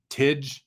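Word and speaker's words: Tij: His name is Tej, I think is how you say it.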